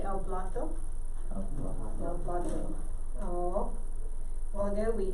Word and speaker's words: plato: El plato. Remember the A, it's just like plate. But the A in Spanish is a always. So el plato. Remember say el plato? El plato.